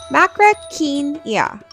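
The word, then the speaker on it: Macrauchenia: Macrainia, you say it like this, macraenia.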